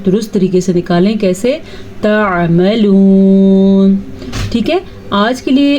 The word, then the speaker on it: تعملون: آئین کے تلفظ کا خاص خیال رکھنا ہے. اگر کوئی اس کو تعملون پڑھے گا اس نے تو الف مدہ بنا دیا.